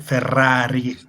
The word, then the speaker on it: Ferrari: Yeah, my name is Ferrari with double R. So that's pronounced correctly. You you usually read it and don't listen to it.